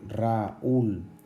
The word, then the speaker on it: Raúl: Por el contrario, Raúl, la fuerza está en la U.